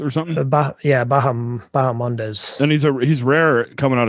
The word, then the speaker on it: Bahamondes: Bahamondes or something? Bahamondes.